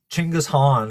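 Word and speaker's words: Genghis Khan: Ching. Ching Han. If you want to pronounce it more correctly.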